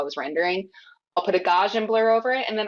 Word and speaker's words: Gaussian: I like so some people have said it's Gaussian. I pronounce it Gaussian, the Gaussian blur.